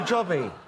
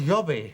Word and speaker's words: Jobby: Her new jobby. It's a lawnmower. It's Hungarian. It's pronounced yobby.